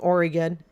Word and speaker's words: Oregon: forgive me here okay it's like I'm from Oregon and it's pronounced Oregon not Oregon okay it's pronounced Oregon